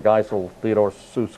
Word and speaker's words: Seuss: Seuss, but that was actually his middle name, Theodore Seuss Geisel, but he pronounced it differently.